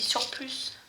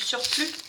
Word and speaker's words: surplus: Elle prononce le S à la fin de surplus et du coup elle dit surplus. Ça me fait marrer parce que nous en France on ne prononce pas le S, on dit du surplus.